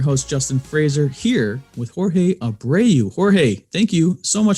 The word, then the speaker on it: Jorge Abreu: multifamily i'm your host justin fraser here with jorge abreu jorge thank you so much for coming on